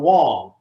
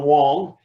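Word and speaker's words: Wang: people had asked john wong and his name is spelled w-a-n-g wong he is mandarin chinese they asked him for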